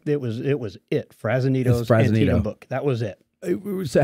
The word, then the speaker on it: Antietam: My mom told me it was Antietam.